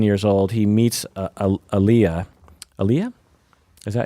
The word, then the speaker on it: Aaliyah: Aaliyah? Is that how you pronounce her name?